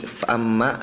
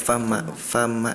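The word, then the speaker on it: فأما: ketika Ananda Aisyah membacanya hamzahnya ini tidak terbawa. Jadi bunyinya seperti fa amma fa amma di mana fa amma gitu ya. Fa amma fa amma jadi kedengaran kayak fa ma fa ma gitu ya.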